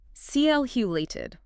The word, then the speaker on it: calculated: And the action you took at the very beginning, calculated. Here the stress is on the first syllable. CL-hulated. And you want to link those last 2 sounds smoothly.